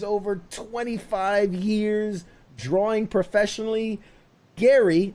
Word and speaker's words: Gerry: 25 years drawing professionally gary not pronounced jerry as it might seem welcome to pop